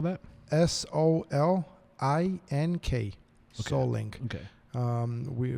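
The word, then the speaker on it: Solink: use for cameras uh so how do you spell that s o l i n k so link okay um we we starting to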